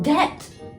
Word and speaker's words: debt: It's pronounced debt.